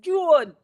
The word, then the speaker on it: June: It's not Joan, it's June.